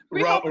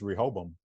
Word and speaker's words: Rehoboam: For me, I feel like it's just Rehoboam. Okay. I feel like it's got 3 syllables, 3 Rehoboam.